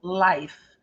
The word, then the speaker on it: life: vida and the Life lembre-se que a letra é muda Life muito bem ninguém não